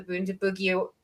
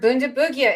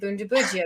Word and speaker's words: Bundibugyo: So that was the final nail in the coffin for the soft G, because I've had Jess and many others say that it's pronounced with a hard G in East Africa.